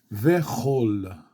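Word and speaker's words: וכל: The Hebrew word for all or every is kol. Okay, but when you get the conjunction and, the dagesh goes away inside of the kaf, so it becomes ve'chol, and all or and everything.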